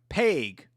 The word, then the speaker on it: Pague: Pague. Dustin Pague. That's how you pronounce it.